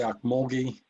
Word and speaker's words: Ocmulgee: Is the name of that river the Ocmulgee? Am I pronouncing that anywhere close to correctly? Yeah, that's about right.